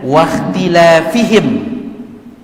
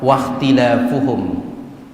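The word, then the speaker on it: واختلافهم: Sebagian ulama membacanya baris dhammah waqtilafuhum ala anbiya'ihim. Ya beda ke maknanya, ini beda maknanya, beda jauh. Dan bacaan yang benar adalah bacaan dhammah waqtilafuhum.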